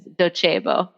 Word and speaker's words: Docebo: going to be called Docebo, but we are actually headquartered in Italy, and so you Sure. kind of have to put a little Italian flair on it. So the right pronunciation is Docebo.